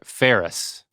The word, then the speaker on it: ferrous: copy that was cheating you didn't say it right though try again oh I didn't no s a furious F ferris ferris okay Sima feris Co I'm